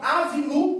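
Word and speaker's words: אָבִינוּ: então aqui gente ó você já viu que terminou aqui com a vogal u tá olha como é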